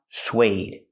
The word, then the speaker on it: suede: what does it mean this word is pronounced suede suede use the W sound like and what and where SW SW plus the long a like bake a cake sway sueded it's a